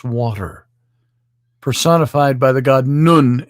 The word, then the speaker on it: Nun: personified by the god nun nun spelled like none it's nun the earth personified by god